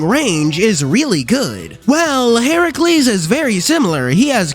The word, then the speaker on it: Heracles: number three pool party Heracles and yes that is actually how you say say his name you know number nine